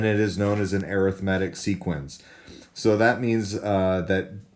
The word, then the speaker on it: arithmetic: So obviously that word looks like arithmetic, but when we put the emphasis on a different syllable, then we get arithmetic.